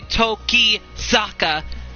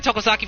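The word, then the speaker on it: Tokisaka: this entire let's play i keep calling only all in him tokozaki but it's actually toki zaka so uh i've been calling him tokosaki for this entire let's play and his actual last name pronunciation is toki toki zaka hopefully i got that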